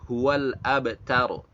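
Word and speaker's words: هو الأبتر: Jadi pada kata huwal abtar, maka bacanya adalah huwal abtaru. Huwal abtaru.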